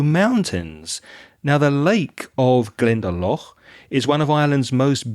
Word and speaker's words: Glendalough: a day trip and go to am i pronouncing this correctly glendale glendalough glendalough oh we had loch a couple of